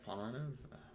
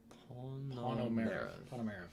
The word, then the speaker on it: Ponomarev: Yeah, Pomeranov. How do you pronounce it? Ponomarev, yeah.